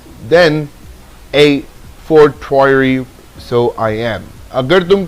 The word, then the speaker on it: a fortiori: How do you pronounce it? You need to understand it. It's a fortiori.